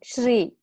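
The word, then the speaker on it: श्री: So together they make one sound. Shri, one syllable.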